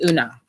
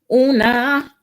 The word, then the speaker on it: Una: They even tell you how to pronounce their names if you don't know. So yeah, when I first got this, I was like, who? But yeah, it's Una. Una. Okay, so it says, message from Una.